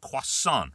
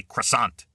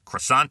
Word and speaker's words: croissant: Now in French it's quasonant, right? We say croissant. In French it's quasant. In English it is uh in English it's croissant, right? Croissant.